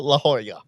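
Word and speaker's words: La Jolla: Don't pronounce it. Laoya La Hoya.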